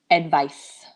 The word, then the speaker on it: advice: Can you hear the pronunciation difference? So the verb is to advise, Z, and the noun. noun, advice.